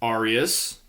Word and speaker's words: aureus: On the other hand, you have the Roman coins, which are pronounced aureus.